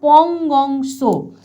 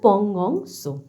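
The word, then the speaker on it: Pangong Tso: এবার আমরা চলে যাব যে লেকটা সম্বন্ধে, সেটা হচ্ছে পংগং সো। আমি বারবার একটা কথা বলে দিচ্ছি, এই টাইপের যে নামগুলো, সেখানে যে এই যে টি এর ব্যবহার হয়, এটা কিন্তু উচ্চারিত হবে না, কিন্তু তোমরা লেখার সময়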